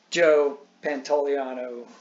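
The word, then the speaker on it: Joe Pantoliano: that but no so bill burr is not joe pantaliano that's how you pronounce his name that dude they're two but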